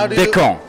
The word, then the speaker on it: Descamps: Almost. Almost. It's Descon. Descon. Yeah.